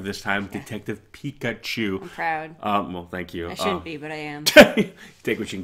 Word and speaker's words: Pikachu: trailer reaction before detective Pikachu I have to say it right because I always want to say pink achoo for some reason yeah